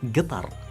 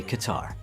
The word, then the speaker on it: Qatar: of and you get and locally we don't say we actually replace the with a G so it becomes guar so almost like guitar excellent no it's not a guitar it's guitar also officially just to be clear internationally and I guess it's because maybe the British people like moved over to our country you know very early on yes you can also say qar that's why when you